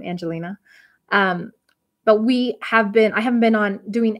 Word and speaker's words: Ayngelina: The Y is silent in my name, Angelina.